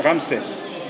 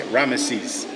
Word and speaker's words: Ramses: Well, in French we say Ramses. In English you say Rammeses.